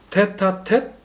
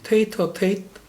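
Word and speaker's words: tête-à-tête: 불어래요. 테타텟, 그리고 영어로는 테이터 테이트 뭐 이렇게 발음을 하던데 그 둘의 어떤 밀당,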